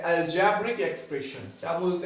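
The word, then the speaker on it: algebraic: ठीक है, तो अब इसे ही क्या हम बोलते हैं, अलजेब्रिक एक्सप्रेशन। क्या बोलते हैं बेटा, अलजेब्रिक एक्सप्रेशन। ये ध्यान देना, अलजेब्रिक की स्पेलिंग लिखा मैंने अलजेब्राइक है, लेकिन पढ़ मैं अलजेब्रिक रहा हूं।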